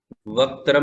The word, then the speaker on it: वक्त्रम: वक्त्रम में आधा क है, उसका उच्चारण होना चाहिए।